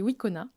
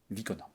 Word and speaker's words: Wicona: Et j'ai donc le plaisir de recevoir Christophe Estival qui est directeur grand compte chez Wikona. Vicona. Vicona, pardon, je le prononce mal.